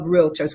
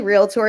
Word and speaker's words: realtor: national uh association of realtors what's the difference well chris i have to give you kudos for saying the word real tour correctly it's actually realtor it's not realtor it's two syllables so you must have